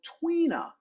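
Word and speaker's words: Tui na: have a massage called Twina. It is spelled in a different way than what it said, but this is powerful.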